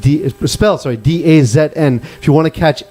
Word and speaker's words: DAZN: Pronounced DAZN.